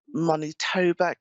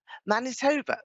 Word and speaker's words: Manitoba: the line now is this Lori in um monit TOA Canada Manitoba that's it that's how you pronounce it hello helloa okay okay my geography